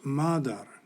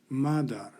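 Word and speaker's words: مادر: The Persian or Farsi word has a long A and is pronounced madar, madar.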